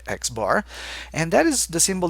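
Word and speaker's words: x̄: the bar on top or pronounced not surprisingly xar and that is the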